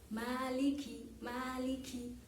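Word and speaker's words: مالك: benar-benar Hai selanjutnya Malikiyaumiddin jadi disini perhatikan Maliki itu mungkin karena agak terburu-buru dalam membaca surat al-fatihah jadi kasrah Kav tidak terdengar jelas jadi kedengarannya seperti sukun Nah jadi disana lebih ditekankan lagi untuk kaos kakinya di perjelas Maliki Maliki Malikiyaumiddin ya seperti itu Iya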